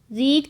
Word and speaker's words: read: रीड की third form होती है रेड। स्पेलिंग तो सेम होती है लेकिन बोलने का तरीका अलग होता है।